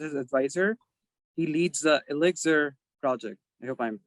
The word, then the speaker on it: ILLIXR: introduction umar so yes you were not pronouncing it correctly it is elixir uh it stands for